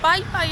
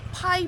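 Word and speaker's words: Pai: 때문에 알게 된 건데 여기 사람들은 빠이빠이 하면 못 알아듣더라 파이 파이라고 해야 알아듣지 그죠 응 억양 때문인가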